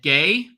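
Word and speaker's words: Gueye: um at the five he's definitely interesting muhamad gay uh that's the correct pronunciation it's spelled gu ye is the likely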